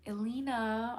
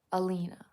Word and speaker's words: Alina: Sorry to correct again, but it's pronounced Alina.